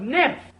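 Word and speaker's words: NIMH: not Sirens PE Sirens it's sort of like how the secret of nim is pronounced Secret of Nymph n i MH it can't be secret a Nim without the letter H I'm afraid the only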